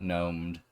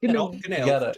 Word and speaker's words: gnomed: You got gnomed. You got gnomed. Not gnomed and not gnobled. You gotta pronounce that G.